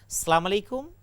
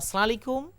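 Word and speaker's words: السلام عليكم: সর্বপ্রথম এই সালামটা দিয়েছেন শুদ্ধ ভাষায় দিয়েছেন আসসালামু আলাইকুম অথবা সালিকুম অথবা এমন কোন শব্দে ব্যবহার করেন নাই আল্লাহ নিজে তালিম দিয়েছেন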